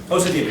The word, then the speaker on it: Osajima: Is that how you pronounce it? Osajima, yeah.